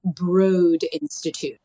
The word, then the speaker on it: Broad Institute: And it's actually broad institute. Broad. It's spelled broad, but it's broad.